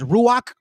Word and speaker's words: Ruach: Did you know that the Holy Spirit we pronounce as Ruach?